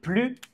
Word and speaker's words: plus: consonne exemple il est plus grand que Jean Grand est un adjectif qui commence par une consonne donc on ne prononce pas le s il est plus grand